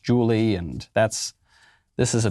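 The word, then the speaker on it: Jully: name is spelled j-u-l-l-y i believe and they pronounced it jelly or something but it's really pronounced julie and that's this is a big problem every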